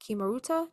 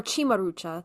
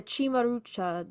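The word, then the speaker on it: cimaruta: are often depicted on Kimaruta, traditional Italian amulets or chimarucha. That's the C in Italian is pronounced as a ch. The chimarucha.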